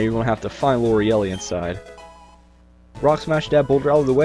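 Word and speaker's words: Lorelei: Spoiler alert, it's L'Oreelli. That's how you pronounce her name.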